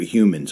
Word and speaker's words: human: to be good for humans I'll tell you that period and don't trust anybody that doesn't pronounce the word h I just want to throw that in there human beings H is not silent just FYI UFOs UFOs